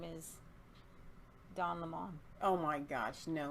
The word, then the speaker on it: Lemon: Lemon. Le. That's not Lomen. Lemon. Lemon. It's like lemon.